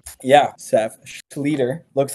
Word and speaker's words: Schlueter: Yeah, Seph Schlueter. Looks like Schlueter, but it is Schlueter. Rhymes with eater, leader, meter, feeder, all those fun things.